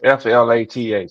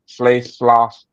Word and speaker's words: Flath: Nah, it's Flath. I don't know how to pronounce that. That's why I said Floss.